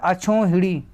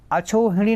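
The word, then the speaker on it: अक्षौहिणी: लिखा हुआ है अछोहिड़ी। अछोहिड़ी नहीं होता, अछौहिड़ी होता है, अछौहिड़ी होता है, ध्यान रखिएगा, ये शुद्ध है, ठीक है, ये गलत है, ये गलत है, ठीक है।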